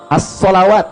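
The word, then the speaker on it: الصلوات: Kalau yang dimaksudkan yang kedua, yang ini, as-salawat bacaannya. Alif, lam, sod, lam, waw, alif, ta, maftuhah. As-salawat dibacanya.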